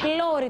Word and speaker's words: πλώρη: Σε ποιο γράμμα τονίζεται το μπροστινό τμήμα του πλοίου? Νάντια. Ωμέγα. Είναι η πλώρη το προστινό τμήμα του πλοίου. Πολύ σωστά, Νάντια μου. Το ωμέγα είναι το γράμμα που ψάχνουμε. Πάμε μαζί στον πίνακα.